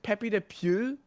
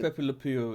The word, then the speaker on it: Pepe Le Pew: But like, as you said, as you get into stuff like Pepe the, is it Pepe the Pew? Is that how you pronounce it? Pepe Le Pew, yeah, I think Pepe Le Pew, it's yeah.